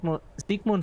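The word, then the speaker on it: Sigmund: Lassan introduced in the field of psychoanalysis which allowed us to better understand Zigg Ziggmun Freud's research. There you have the German pronunciation.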